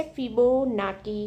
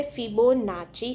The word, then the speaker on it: Fibonacci: તેને આપણે કહેવાય છે ફિબોનાકી શ્રેણી. કઈ કહેવાય છે? ફિબોનાકી શ્રેણી. એનું અસલ જે ઉચ્ચારણ છે તમે ઓનલાઈન જોશો ને એ બોલશે ફિબોનાચી શ્રેણી. The real pronunciation of the Fibonacci શ્રેણી is Fibonacci.